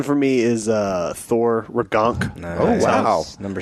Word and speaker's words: Ragnarok: No, it's pronounced Ragnarok.